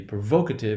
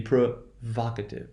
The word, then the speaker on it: provocative: It's not going to be provocative, it's going to be provocative.